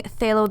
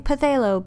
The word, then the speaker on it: phthalo: Firstly, I want to mention that I know I was pronouncing phthalo the wrong way. I know the P is silent, but back then I didn't, so I kept saying phthalo.